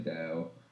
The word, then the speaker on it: Taoist: Say Taoist. what? Taoist, like the philosophy. Tao. Most people just say Tao.